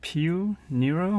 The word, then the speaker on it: Piu Nero: strapping it's a swatch against pronounced peel Nero which believed in Italian means more black it's a relatively new